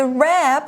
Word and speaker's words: wrap: 好，我们这边看到动词 wrap，它是用点点点包裹或是围的动作。那 WR 放在一起，这个 W 是不发音的。那像是我们用来包装东西的 wrapping paper，好，包装纸就是用到 wrap，重复字尾 p 再加 ing。那包是 wrap，如果你把它打开，那就是在字首加上 un unwrap 就可以了。那接下来呢，ribbon 这个名词是丝带或是缎带的意思。